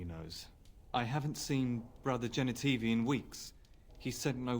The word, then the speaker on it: Genitivi: Genitivi, that's how you say it. Yeah, that's what I meant to say. I just said it wrong before.